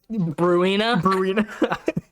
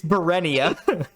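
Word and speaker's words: Burenia: Bruina? It's Berenia.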